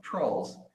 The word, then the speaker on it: Troels: It's Troels, pronounced trolls.